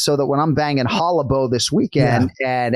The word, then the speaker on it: Hollabaugh: that when I'm banging Hollow Beau this weekend and everybody thinks it's hollabaugh because it's spelled b-a-u-g-h kenflo you're the last